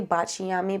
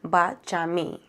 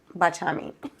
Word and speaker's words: Baciami: So I used to say Baciami, but I recently learned that the correct pronunciation is Baciami. So Baciami.